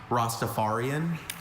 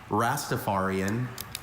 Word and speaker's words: Rastafarian: I have a few pronunciations. Rostafarian. Rastafarian. Rostapharian.